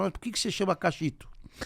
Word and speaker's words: Kaxitu: Mas a pronúncia certa é Cachito.